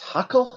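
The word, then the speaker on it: Haeckel: scientist um by the name of uh Ernest huckle Heckle how do you say it Omar Ernest Heckle yeah yeah right he used a term called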